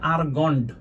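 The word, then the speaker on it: Argand: এটার প্রনাউন্সিয়েশন হচ্ছে আরগন্ড। ডি আছে লাস্টে। ঠিক আছে? গন্ডারের মত ডায়াগ্রাম। গ্রাম বানানটা ভুল হইছে ডি আই এ জি আর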